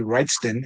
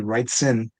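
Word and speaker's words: Wrightson: Bernie writes and and like for whatever weird reason I always mispronounce his last name. Um I always say Bernie Writen instead of Bernie Writson.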